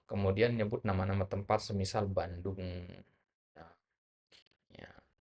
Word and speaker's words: Bandung: nyebut nama-nama tempat semisal Bandung, ya, ya, itu nggak perlu dieja dengan ejaan Arab ya, Bandung, ya. Ya, nulisnya memang begitu ya, Bandung itu pakai jim dia. Ya, tapi pengucapannya tetap Bandung.